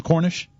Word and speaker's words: Cornish: new sentinel sports page is that the correct pronunciation of your last name cornish yes sir okay well what are what are